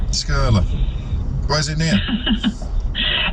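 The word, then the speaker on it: Skirlaugh: How do I pronounce that, Rachel? Skurla. Skurla.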